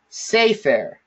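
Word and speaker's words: סֵפֶר: All right, so the way that we pronounce this word is sefer.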